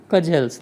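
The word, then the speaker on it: cudgels: ये टेक अब तक का जेलस देखिए जो शब्द है इसमें दी साइलेंट राहत है इसको काजल्स पढ़ा जाता है और काजल्स का मीनिंग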